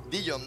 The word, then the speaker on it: Dillom: Es Dijon. Pero decirle Dijon es como... O sea, no puedes escribir tu nombre artístico con doble L y pretender que la gente lo pronuncie con una.